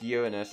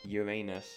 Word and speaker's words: Uranus: Now moving on to Uranus, which is the planet with the funny name, but sadly, it's pronounced Uranus and not Uranus.